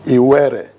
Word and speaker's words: Iwere: And the name Warri came to be due to a corruption of the English people who could not properly pronounce the proper name. It is Iwere.